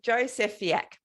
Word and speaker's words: Jozefiak: Jozefiak. Jozefiak, yeah. Jozefiak. I even wrote it down so I would pronounce it correctly. It's one of those tough Polish names.